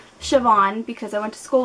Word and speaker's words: Siobhan: this author's first name name and it is pronounced Siobhan because I went to school with someone who spelled it like that and that's burn for Burn by Jenny Han and like I said Shon Vivien and um I don't really know what